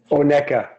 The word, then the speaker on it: Oneka: The herb farm is certified organic, and the Oneka, I butchered that. How do you pronounce it again, Philippe? Oneka.